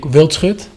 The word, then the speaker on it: Wildschut: I know for English people it's a little bit difficult, but in Holland we pronounce it Yanic Wildschut. Uh-huh. But the SCH is a little bit difficult, so yeah, I don't know, just make of it what you can make of it.